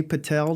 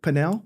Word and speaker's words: Pinel: Uh with us today is Renee Patel. Did I pronounce that right? Panell? Yes. Uh Renee Panell, she's the uh president CEO CEO of Western Plant Health.